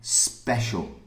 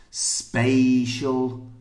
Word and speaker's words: special: it's the same thing the first one spatial SP a spatial and the second one e Special Special Special A A if you can hear the difference between a and e that's the difference and listen don't don't